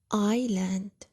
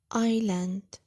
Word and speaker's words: island: many plants now island island island pay attention that we have here a silent letter Shh silent letter can you guess what is it I'll read it again island island Bravo it's the ass now island it's a